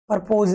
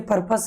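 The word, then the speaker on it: purpose: परपोज नहीं है ये, परपोज की स्पेलिंग अलग होती है, ये पर्पस है जिसका मतलब होता है उद्देश्य।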